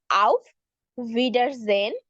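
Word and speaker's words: auf Wiedersehen: ভিডার জেন আও ভিডা মানে ডাব্লিউ টা ভয়ের মত উচ্চারণ হবে আউফ ভিডার জেন সি ইউ সুন আও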